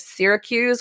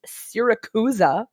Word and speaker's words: Syracuse: and how archimedes of syracuse which the audible narrator pronounced syracusa and i had to